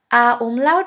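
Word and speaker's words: ä: or a a uml a uml is pronounced like the e in the word melon or in the a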